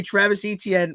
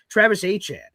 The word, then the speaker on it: Travis Etienne: I know I know you've been calling me Travis Etienne this entire time, but just you know, it's pronounced Travis Etienne.